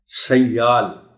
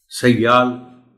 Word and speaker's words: سیال: Plastic ہی بولا جائے۔ سیال، سیال یہ کے اوپر شد ہے اور اس شد کو بطور خاص بولا جانا چاہیے۔ زندگی، کتنا استعمال کرتے